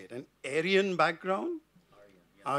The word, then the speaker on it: Aryan: an a how do you say it an Aryan background AR Arian okay the same as the nais and so